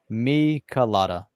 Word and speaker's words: Michelada: It's pronounced Michelada. Michelada. It's Michelada. Michelada.